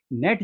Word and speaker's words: नेट: लेकिन नहीं, नेट जब बोला जाता है तो ने को लघु बोला जाता है, पेन में पे को लघु बोला जाता है।